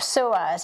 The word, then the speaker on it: psoas: samas tools and servers was called sewers it's spelled p-s-o-a um so p-s-o-a-s it's a muscle and by making